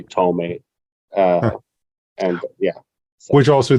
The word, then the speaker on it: Tohme: version of it because some people find it hard to pronounce Tohme, which is like phonetically, it's hard for those who do not speak certain languages. In my case, it's an Arabic last name. But basically, I just say Tohme.